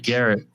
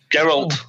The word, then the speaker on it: Geralt: But I know it's like Garrett. Oh my god. Garrett Bischoff. Geralt. Aces and eights. Garrett Bischoff. Geralt. It's Geralt.